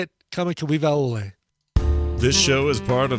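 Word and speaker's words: Kamakawiwoʻole: very talented, incredible performer from Hawaii named Israel Kamakawiwa-Ole.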